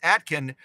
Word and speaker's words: Aitkin: uh Atkin I think it says it's pronounced Atkin Minnesota uh a let's see